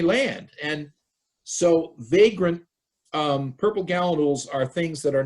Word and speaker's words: gallinule: How would a purple gallinule get to Yarmouth? I'm sure I didn't pronounce that right. No, that's right.